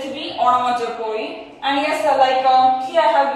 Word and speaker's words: onomatopoeia: So its pronunciation is onomatopoeia. So many of you are getting confusion in its pronunciation. So its pronunciation is onomatopoeia.